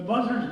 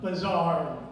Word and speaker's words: Buzzard: The Buzzards weren't all so bad, she said, and in any case, the name isn't pronounced Buzzard, but Bizarre.